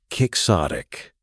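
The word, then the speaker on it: quixotic: at kicksotic pronunciation kicksotic meaning exceedingly idealistic, unrealistic and impractical.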